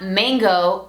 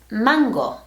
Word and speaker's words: Mango: This fashion design and manufacturing company was founded in Barcelona, Spain, or should I say Barcelona, and the correct pronunciation is not mango or mongo, it's mango.